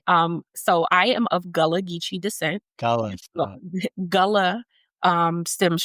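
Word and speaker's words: Gullah Geechee: Um, you work with Gulagichi. Did I say it wrong? I'm sorry. It's okay. Um, so I am of Galagichi descent.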